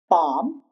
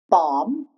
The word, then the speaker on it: palm: Palm. Palm. It's not palm. It's palm.